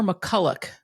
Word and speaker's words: McCullough: Is it McCullough or McCullough? Yeah, we say McCullough. It's spelled OCH, but it is just McCullough.